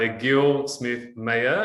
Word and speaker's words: Egil Smith Mayer: Hey guys, it's here from CFS Health, and on the other end, we have Egil Smith Mayer.